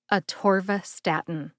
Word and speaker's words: atorvastatin: get a TVA Statin emphasize T and Stat stat gets the most emphasis see if you can hear that emphasis on both syllables when I say it slowly a TVA Statin a torva Statin Lipitor is up next